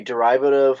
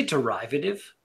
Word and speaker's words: derivative: Isn't a goza like a derivative of a lambic? Did you say derivative? Derivative, right. Tomato. Derivative. I've never heard derivative. You put the emphasis on the wrong syllable.